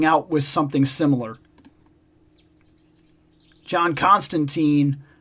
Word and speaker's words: Constantine: John Constantine. I heard it's pronounced Tine, not Teen. And I've heard that, too. I've heard that it's John Constantine.